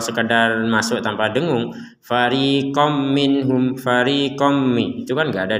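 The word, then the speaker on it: مِنْهُمْ: juga tertulis sama-sama Apa sama-sama dibaca dengan jelas minhum minhum nah seperti itu di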